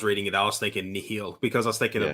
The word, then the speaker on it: Nihil: And so it's pronounced Nihil. Nihil, yeah. Okay. I've been calling them Nile, like just because it feels like it rolls off the. It just they say Nihil in the book.